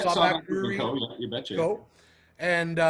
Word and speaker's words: Sawback Brewery Co.: Co. is the proper way to say it, right, Scott? Yeah, Sawback Brewery Co.